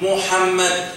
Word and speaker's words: Muhammad: Did you know that the name of Prophet Muhammad, peace be upon him, is mentioned as I pronounce it, Muhammad, in the Old Testament?